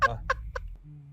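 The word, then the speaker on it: Phuc: His name is Fahog, but spelled with a PH, so it sounds like... So it's fuck.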